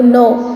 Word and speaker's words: know: KNOW, no. K is silent.